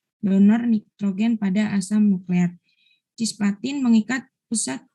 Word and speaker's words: cisplatin: Cisplatin mengikat pusat. Bacanya cisplatin ya. Kamu jangan salah bacanya ya.